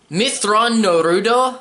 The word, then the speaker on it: Mitth'raw'nuruodo: this novel that i did not thoroughly enjoy mitth'raw'nuruodo which is actually how you pronounce his full name is exactly what i